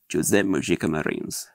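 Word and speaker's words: José Mojica Marins: a little a on the I shouldn't be Jose mojika Marines um so that's how you pronounce his name it's not Jose moika mosika mayin or whatever forget that's not how you pronounce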